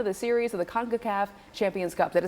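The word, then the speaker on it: CONCACAF: first first round of the series of the conaf Champions Cup did I say it right you got it conaf all right so that is an International Tournament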